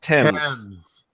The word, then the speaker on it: Thames: It's pronounced Thames.